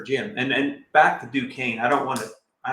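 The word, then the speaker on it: Duquesne: Uh, Dukesny. Oh, Dukane.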